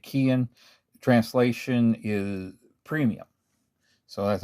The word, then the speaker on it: Keihin: I actually I've always called it Keihin, but I thought, I should probably Google that and see. And there were a few arguments on it, but Japanese say Keihin.